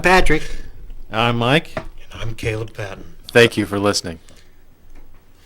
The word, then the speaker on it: Kaleb Patten: And I'm Kaleb Patten.